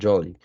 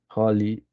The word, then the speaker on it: jolly: Entonces, eh, en ese orden de ideas, decimos hefty y decimos jolly, porque la J también tiene su pronunciación como Y. Hefty and jolly.